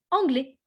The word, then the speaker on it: anglais: Je parle anglais. Je parle anglais. If you want to say, I speak English. Okay, I speak English. Parfait. Je parle anglais. The S, you don't pronounce it. Okay, it's always silent.